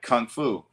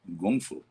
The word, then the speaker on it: kung fu: Yeah, like people say, oh, I take kung fu. It's actually gung fu.